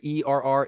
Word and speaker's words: err: so you all know this word right here ER is er it's pronounced ER on the side of inclusion yeah